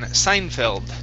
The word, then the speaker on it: Seinfeld: like Johnson Alexander in Seinfeld. Okay, all right, very good. All right, so let's go to this last word here. It's sign. Seinfeld. Seinfeld.